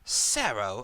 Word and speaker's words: Sarah: Um, pronounced as if you were to say zero and Sarah at the same time.